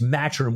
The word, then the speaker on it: Maturin: name matroninova you know it's maturing with an H in it but pronounced you know Maturin because at the time